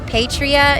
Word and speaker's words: Paitria: Yeah, so the best way to contact me is on Instagram, and that's at her name is Patria. It's spelled Paitria.